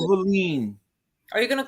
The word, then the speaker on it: Wallin: Otto, Wallin, but it's pronounced Valine.